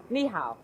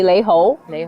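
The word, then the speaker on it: 你好: good day right and let's hear in mandarin how to say it yeah lihao that's easy that's chinese if we're speaking in cantonese you should be laiho exactly you're good at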